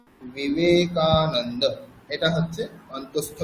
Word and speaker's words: বিবেকানন্দ: ব বলতে বর্গীয় ব, বর্গীয় ব আর অন্তঃস্থ ব দুটির মধ্যে উচ্চারণ পার্থক্য আছে। যেমন অন্তঃস্থ বয়ের উদাহরণ হচ্ছে বিবেকানন্দ, বিবেকানন্দ, বিবেকানন্দ, এটা হচ্ছে অন্তঃস্থ ব।